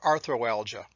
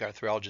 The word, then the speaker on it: arthralgia: sounds good to me which sounds better arthralgia or arthroalgia i think arthralgia sounds a lot better